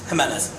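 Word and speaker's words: Jiménez: What, how do you pronounce your J, your... Jimenez. So pronounce it like an H, huh?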